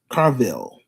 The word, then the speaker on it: Carville: Our second topic, James Carell. If I'm pronouncing it right, if not, it don't make me no difference, but I'm just saying.